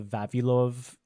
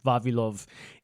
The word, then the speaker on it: Vavilov: So there's a place called the Vavilov, I had to say it like a Russian, Vavilov Institute in Russia that